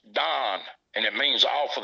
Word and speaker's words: dan: said they call it d-a-n he said it's not pronounced dan and uh it's pronounced don and it means off